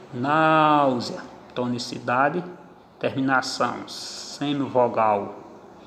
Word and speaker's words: náusea: Náusea, semivogal I mais vogal A. Está escrito E, mas se pronuncia I.